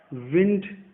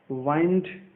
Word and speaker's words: wind: इसको बहुत लोग विंड पढ़ते हैं, बहुत लोग वाइंड पढ़ते हैं. दोनों में से सही प्रोनाउंसिएशन कौन सा है? दोनों ही सही प्रोनाउंसिएशन है. विंड ब्रिटिश एक्सेंट है, वाइंड अमेरिकन एक्सेंट है. तो दोनों ही एक्सेंट सही है.